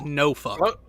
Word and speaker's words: Norfolk: It's no fuck.